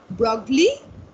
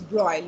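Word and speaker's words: de Broglie: that the pronunciation is broil okay louis de bruyne the s is silent and the g is silent so louis de bruyne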